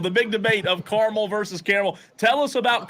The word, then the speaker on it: Carmel: I got to know I pronounced carel careli it's not caramel the big debate of Carmel versus caramel tell us